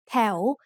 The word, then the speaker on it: แถว: แถว is said with a rising tone because it has a high-class consonant and a live syllable ending.